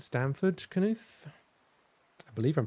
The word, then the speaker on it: Knuth: He says Stanford Canute. I believe I'm pronouncing his name correctly. I've been corrected on that once before. But I think it's Canute spelled like canoe.